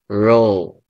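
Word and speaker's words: rho: So in this particular statistical tool this is used okay R subs or the Greek letter which is pronounced as row.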